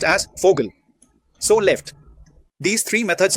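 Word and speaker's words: Vogel: It is written as voil but pronounced as fogal.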